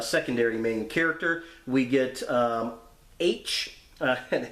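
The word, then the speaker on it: Aech: We get H, and it's kind of funny how H's name is spelled on there. It's A-E-C-H, like phonetically spelling the letter H, which is kind of funny.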